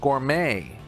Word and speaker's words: gourmet: Number 14 is gourmet. It's another French word that we use in English. Gourmet. Just means really fancy. Usually gourmet food is more expensive.